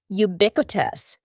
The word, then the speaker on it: ubiquitous: Next, don't be fooled by the first letter U. We pronounce it with a Y sound. Ubiquitous.